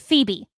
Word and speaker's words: Phoebe: done by Sophie uh Phobe Waller Bridge, who is the woman from It's pronounced Phoebe.